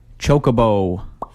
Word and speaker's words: Chocobo: Chocobo.